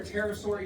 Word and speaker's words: pterosaur: Now, before we get to this, real quick, why can't you hear a pterosaur use the bathroom? Because the P is silent.